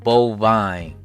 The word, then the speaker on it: Bofyne: The developer said Bovine or Bovine, right? yeah, cause I was pronouncing it incorrectly the whole time.